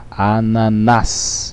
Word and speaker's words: ananás: Ananás. Separando sílabas fica ananás. Ananás. Sílaba tônica é a última, portanto é uma palavra oxítona.